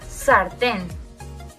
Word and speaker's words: sartén: En segundo lugar, para ver cuando se acentúan con N, tenemos la palabra sartén. En este caso, nuevamente, es la última sílaba la que lleva el golpe de voz.